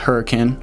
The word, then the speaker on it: Hurricane: ivan's you've got hurricane up here it is pronounced hurricane i know it says hurricane but it's pronounced hurricane so this is the